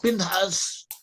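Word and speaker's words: פִּנְחָס: Phineas in Hebrew is pronounced Pinchas.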